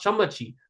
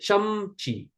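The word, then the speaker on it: ચમચી: Look, it's a chamachi. Why is it not chamachi? Why is it chamchi? Where did that invisible Why is the invisible a here?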